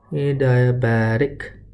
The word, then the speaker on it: adiabatic: we also have adiabatic a diabetic that's how you pronounce it and the implication for